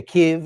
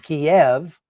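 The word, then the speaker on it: Kyiv: Uh and you can kind of tell where somebody stands on the Ukraine war by listening to how they uh pronounce the names of the places in Ukraine. they're using the Ukrainian pronunciation. If they say Kev instead of uh Kiev, uh if they say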